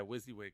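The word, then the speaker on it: WYSIWYG: in a document Wy s i w g pronounced whs yeah wizzy wig what you see is what you get yes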